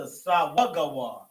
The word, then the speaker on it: sawagawar: So, to say uh shut as in currently shut, you have to conjugate sagawar to sawagawar. So, sa wa ga war.